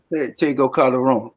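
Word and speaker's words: Tego Calderón: Tego Calderon, yeah. Tego Calderon.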